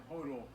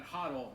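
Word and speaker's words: HODL: uh a generational wealth i've been pronouncing hot or wrong this entire time i've continued to say total but huddle is exactly uh the way that we will go forward from here thank you for that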